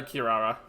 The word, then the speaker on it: Kirara: magic silk cult uh Kirara not Kiara oh my God I